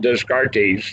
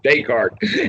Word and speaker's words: Descartes: This would be the time to mention the philosopher Descartes. Now, when I read him when I was in high school, nobody knew enough French to know that his name was not Descartes. It is actually Descartes.